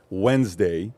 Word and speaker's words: Wednesday: 12 13 years old I can't pronounce the word Wednesday is Wednesday I would always say the D I can't pronounce the